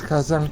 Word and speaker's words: Kazan: Do I pronounce Kazan correctly?